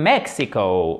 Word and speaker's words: Mexico: He comes from Mexico. Ok? Accent tonique ici avec un « e ». Mexico.